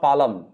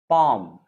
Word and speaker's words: palm: is called palm p-a-l-m palm it's not palam palm then you have wood